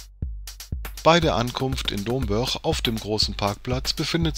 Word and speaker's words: Domburg: Domburg wird übrigens als Dombörch ausgesprochen. Zumindest so ähnlich.